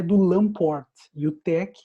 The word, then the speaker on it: TeX: do lan por mil tec é o tal epson que por isso que ele pronuncia tec o tex então pode parecer se